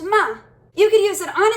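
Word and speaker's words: מה: what's up so the word for what is pronounced ma you can use it on its own or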